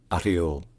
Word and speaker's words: Oryol: industry locally the name of the city is pronounced arol AR a AR all right if you enjoy